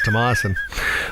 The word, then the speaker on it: Toyon: bit more like it's not Thompson it's Toyon that makes sense makes